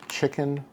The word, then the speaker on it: Chikin: typo in the intro this is spelled c i k i n officially which is of course a phonetic spelling of chicken and this Nissen chicken ramen was the first